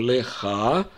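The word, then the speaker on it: לך: Мы произносим леха, но гей в конце мы не пишем. Хочется здесь написать каф и поставить гей, но нельзя этого делать.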